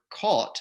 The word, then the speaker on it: caught: is where the word caught c-a-u-g-h-t is pronounced exactly the same way as cot c-o-t and in fact this